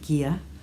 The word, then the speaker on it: Gigha: on their Gia base, that's Gigha, pronounced Gia, which is the 50% merino, 50% silk, 400 metres to 100 grams, and this colourway is Sea Glass.